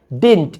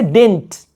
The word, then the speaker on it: didn't: Yes, I did, or no, I didn't. Even you can say didn't. Didn't. I'm not pronouncing second D. Didn't. Like we say dent.